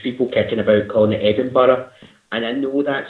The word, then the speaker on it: Edinburgh: Edinburgh is pronounced Edinburgh, not Edinburgh, not Edinburgh. It's Edinburgh.